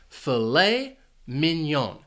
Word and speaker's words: filet mignon: This food is actually 2 words, and the stress is on the second syllable for each word. Filet mignon. Now, you might be wondering about why is it pronounced this way because of the spelling. Well, this is a French word.